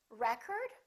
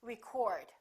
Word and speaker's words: record: is this word pronounced record or is this word pronounced record it depends on if it's a noun or a verb i would like to get the new record record first syllable he broke the world